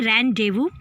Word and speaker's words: rendezvous: रेंडेवू, ये जो word है RENDEZVOUS. सो इसकी प्रोनाउंसिएशन है रेंडेवू.